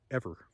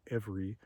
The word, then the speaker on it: every: to the fact that not everyone says Every ever, right? The majority pronunciation is every, which I sometimes say, but my sort of native pronunciation of the word is ever, right?